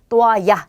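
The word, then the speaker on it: toalla: 자, 엘레가 두 번이 왔기 때문에 이중모음이 되는 거죠. 그래서 또아야 이렇게요.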